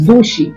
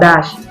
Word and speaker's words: dushi: It is Dushi, not Dashi.